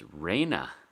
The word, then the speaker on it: Raina: So it's Raina. Raina? It doesn't look spelled like that, but I guess I could maybe see it. I've been saying it in my head wrong this whole time.